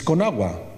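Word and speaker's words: Conagua: do you say that lyric right it's konagua La Commercial National de la agua and as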